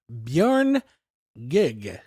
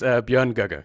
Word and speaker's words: Björn Göge: This is Björn Gig. Yeah. Close. How close? It's Björn Göge.